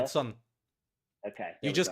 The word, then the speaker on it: Kherson: And as you're going to be in charge of pronunciation of all the cities and whatnot, but they retook. How did you say it? Kherson. Kherson. Kherson.